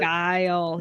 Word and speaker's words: Guile: I was, because the thing is, the is it Guile from Street Fighter? Is that how you pronounce it? Guile, yeah.